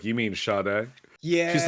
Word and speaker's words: Sade: Sam goody one time and she asked for Sade oh wow and I was like you mean shade yeah she's like no I mean she was